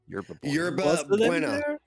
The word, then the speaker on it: Yerba Buena: Yerba Buena. Yerba Buena. Spanish. Yeah. Yeah.